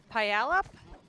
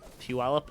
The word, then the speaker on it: Puyallup: of you're from this area when you can pronounce these local Native American names. Okay, I'll try. Puyallup and Sequim. Puyallup and Squim.